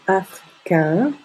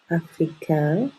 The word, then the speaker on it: africain: les nasales comme dans africain africain on ne prononce pas le N et la bouche est plutôt fermée donc au féminin on